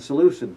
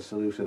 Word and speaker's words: Seleucid: and that's known today with a softened K as a C as the Seleucid Empire.